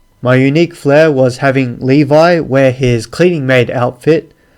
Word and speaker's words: Levi: so just realized that levy's name is supposed to be pronounced levi at least in the anime so uh yeah from